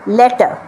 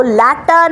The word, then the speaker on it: letter: সুতরাং লেটার বলবো, ল্যাটার না। পরেরটা দেখুন, ল্যাটার আছে, লেটার আছে, অনেক কিছু আছে। এগুলো কিন্তু ভুল প্রোনাউন্সিয়েশন, এটা চলবে না। ঠিকটা হচ্ছে এইটা, লেটার। র কোনো সাউন্ড নেই, র যদিও লেখা রয়েছে স্পেলিংয়ে LETTER, কিন্তু সেই আরটা কিন্তু সাইলেন্ট থাকছে, প্রোনাউন্সড হচ্ছে না, এটা মাথায় রাখবেন।